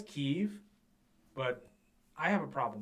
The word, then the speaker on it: Kyiv: But up until Russia invaded Ukraine, everyone in the West pronounced it Kiev. Now, I understand in Ukrainian it is pronounced Kyiv, but historically, even going back to the Vikings that settled in the area, it was the Kievan Rus.